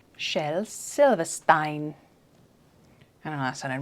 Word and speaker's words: Shel Silverstein: i got it stein i just found a british pronunciation of his name with the which is shel silva stein shel silverstein see now that's going to